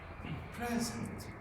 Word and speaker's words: present: And if the stress is on the last syllable or the second syllable, it is a verb. I'll give you an example. Present.